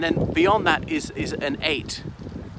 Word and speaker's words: ait: I mean so an 8 spelled pyo T or indeed AIT which is pronounced just like the number 8 or is an eighth